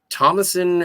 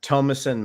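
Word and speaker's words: Thomasin: joy and uh I always get this lady's name wrong Thomasson McKenzie Thomson Thomasson I don't know my her name is uh tomason McKenzie Tomas yes tomason um but yeah and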